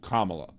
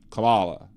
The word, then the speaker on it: Kamala: but his name was Kamala her name is Kamala and very easy just say Kama and then La then put it together Kamal very easy to